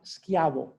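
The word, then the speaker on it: Schiavo: like a k so really his name is pronounced skiavo and in spanish we have a certain advantage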